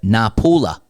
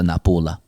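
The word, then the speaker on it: Napule: The original Napolitano name of the city is Napul, pronounced, here we go, Napula. Now the guy on the Speakpipe said Forza Napula. He did. Again, with short syllables and finishing with a schwa sound, Napula.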